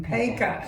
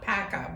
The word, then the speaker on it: Paca: William Paca, and it's not Paca, because Paca is the way they say it in Baltimore, so we're Annapolis.